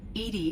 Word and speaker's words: EDI: ED is the phonetic pronunciation of EDI.